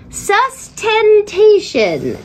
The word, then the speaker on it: sustentation: this word came up sustentation sustentation four syllables four syllables sustaination yes because i